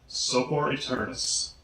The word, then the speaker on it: Sopor Aeternus: Sopor Aeternus. Well, technically it's Sopor Aeternus and the Ensemble of Shadows, but everyone I know just says Sopor Aeternus.